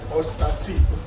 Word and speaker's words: OSTATEE: My Instagram handle is Ostati. That is spelled OSTATEE.